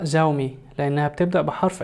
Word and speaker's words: Xiaomi: فلغويا شاومي ممكن تتنطق زاومي لأنها بتبدأ بحرف X وبيليها حرف متحرك وهو حرف ال I. ولكن شاومي كلمة صينية ترجمتها بالإنجليزية ميلت، وميلت هو نوع من أنواع الحبوب، حاجة كده زي القمح.